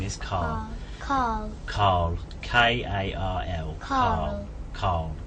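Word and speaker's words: Karl: No, Carl. His name is Carl. Carl. Carl. K-A-R-L. Carl. Carl. Yeah. Carl. Carl. Yeah. Carl. It seems like without an R. Yeah, I think it's my accent rather than.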